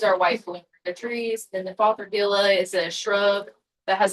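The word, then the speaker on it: Fothergilla: Are you calling it father yellow? Huh? What are you saying? It's called fathergilla. Like g i l l a.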